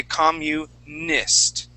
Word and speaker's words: communist: that mu sound communist and then at the end of the word uh carolina you're using a spanish i and saying communist okay so instead of saying we want to use what's called short i sound all right and say communist try that communist like